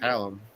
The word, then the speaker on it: Hallum: on Friday, DFS show, and he's having Ryan Halam as a guest. Um, or how do you pronounce his name? Is it Halam or Hallum? I don't know how to pronounce it. Halum.